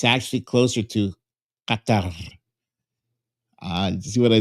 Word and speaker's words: Qatar: And it's actually closer to Qatar. Uh, you see what I did there? There's a rolling R at the end. And the first uh the first consonant is like a hard Q in your throat.